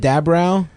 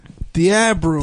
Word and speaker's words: DeAbreu: how do you say it? DaBrow? DeAbreu. DeAbreu.